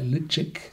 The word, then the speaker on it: Ledaig: So spricht er sich nicht. Der spricht sich so ungefähr Le Daig aus.